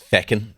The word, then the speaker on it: Feckin': The show title, which I adore, it's Feckin', but it's spelled like Tekken.